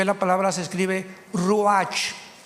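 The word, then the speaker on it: רוח: Apunten todos ustedes, los que les interesa en su Biblia la palabra espíritu, que es la palabra se escribe ruash. R u a c h.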